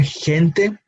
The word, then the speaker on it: gente: So again, that when we see G here next to the vowel E, we reproduce the same sound that we tend to give the English H. No, so gente.